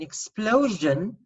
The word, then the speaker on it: explosion: And an explosion has a zhin sound.